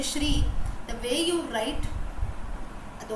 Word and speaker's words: Sri: you are saying SRI they write it that way like my own brother's name is Sri Hari right when we pronounce we say Shri but when he's righteous spelling it is Sri that is because now